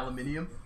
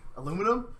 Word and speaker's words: aluminium: Yeah, aluminium. Aluminum?